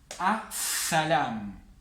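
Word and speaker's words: السلام: Entonces, en las solares vamos a saltearnos la L, no vamos a pronunciar la L, y la primera letra de la palabra la vamos a pronunciar doble.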